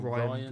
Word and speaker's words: Rian: No, it's Um, Rian or Ryan Ryan. Johnson. Ryan Yeah. But something. it's spelled like Rian. I think it's Ryan.